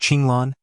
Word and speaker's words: Qing Lan: In Chinese, it should be pronounced Chinglan.